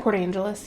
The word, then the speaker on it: Port Angeles: Is that how you pronounce that? Port Angeles, yeah.